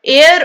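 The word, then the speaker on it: heir: H silent है। एयर ऑफ the throne.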